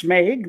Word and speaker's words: Smeg: Yeah, it's Smeg. The S is silent.